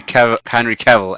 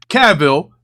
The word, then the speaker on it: Cavill: Red Lion says also, Ricky, in future, can you pronounce Henry Cavill as Cavill, not Cavill? You're making him sound like some sort of French villain.